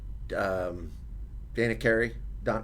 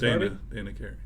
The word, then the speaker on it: Dana Carvey: Mine was probably between him and Dana Carey. What's that? How you say it? Dana Carvey.